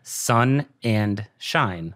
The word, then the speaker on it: Sonnenshein: can't get it right it's actually a lot simpler than it looks okay sun and shine sun and shine sun